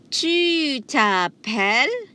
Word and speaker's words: tu t'appelles: Tu t'appelles. The S is silent.